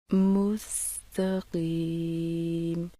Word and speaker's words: مستقیم: قی، کی کی کی۔ صحیح تلفظ سے سنیے۔ مستقیم، مستقیم۔ بتائی گئی تمام باتوں کا خیال رکھتے ہوئے مشق کیجیے۔ مستقیم، مستقیم، مستقیم۔ اب پوری آیت کی